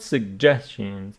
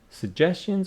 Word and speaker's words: suggestions: 9 and listening Smart Suggestions two pronunciations suggestions or suggestions either is fine portable speaker you know